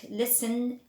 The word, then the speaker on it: listen: the rule this well there are some silent letters in English like the T in the word listen and often we don't say